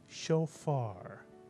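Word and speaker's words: שופר: Kats under the Fay first syllable would be show and the second syllable would be far put the word together and you get shofar now there's a word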